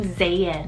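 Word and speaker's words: Zayan: on the list i have is the name zayn so z-a-y-a-n i actually have never heard of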